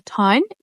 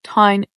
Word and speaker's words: town: So a town is, and I pronounce town really weird for a lot of people because I have an Irish accent or a Northern Irish accent, and we pronounce O-W-O, town. English accent would say town. I said town.